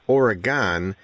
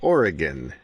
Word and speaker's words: Oregon: native now my wife she grew up in Oregon right here in Newport on the coast and when she tells me I'm not supposed to pronounce it Oregon it's Oregon can you convert that's great okay all right